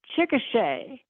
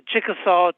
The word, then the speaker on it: Chickasaw: Northern Arkansas and um people said Chickasha and I is that just an ignorant way of pronouncing um there's a actually there's a town called Chickasha but it's the Chickasaw tribe okay completely different okay